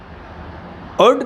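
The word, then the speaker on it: could: present and future also गुड का प्रयोग सभी टेंसेज में होते हैं क्योंकि एल साइलेंट रहता है मैं कुछ महत्वपूर्ण प्रयोग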